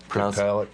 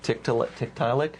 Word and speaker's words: Tiktaalik: I think it's pronounced Tiktaalik. Tiktaalik.